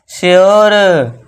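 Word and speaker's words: sure: यू के बाद आर E, normally आप सिंपल सा रूल लिख लीजिए, you plus R ई is equal two ओ, आप इतना लिख सकते हो शॉर्ट में याद रखने के लिए। तो इसे क्या पढ़ेंगे? प्योर, श्योर।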